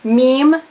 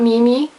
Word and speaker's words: meme: mistake more than once meme not Mimi halfhazard not half Hazard